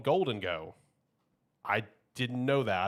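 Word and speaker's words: Gholdengo: I thought it was Gulango this entire time. That's how I've heard everyone pronounce it, but they said it in the trailer. It's like Golden Go.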